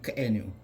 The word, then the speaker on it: k'enu: But if you glottalize that K sound and make it k'enu, it changes from the meaning of a tribe or a culture of